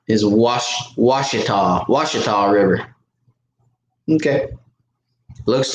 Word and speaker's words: Washita: but I think he's telling me how to pronounce that River is wash wash it off wash it all River okay looks like Gucci top but Washita